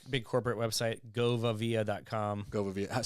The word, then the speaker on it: Govavia: Govavia. Spell it for listeners.